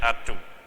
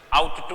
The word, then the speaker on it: ought to: इसकी जो प्रोनाउंसिएशन है वैसे होगी आट टू, इसकी प्रोनाउंसिएशन आउट टू नहीं होगी, इस चीज का ध्यान रखें थोड़ा।